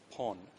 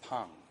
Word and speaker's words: Pang: The individual at the telegram office, I did not refer to that person as Pon, as my learned friend has been representing. Both I and the witness pronounced that name as Pang.